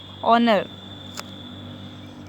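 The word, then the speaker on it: honour: H जो होता है वो क्या होता है साइलेंट होता है। इसको क्या पड़ जाएगा हावर नहीं बल्कि आवर पड़ जाएगा। ऑनेस्ट, ऑनर, हाँ तो क्या हो गया आवर, ऑनेस्ट, ऑनर।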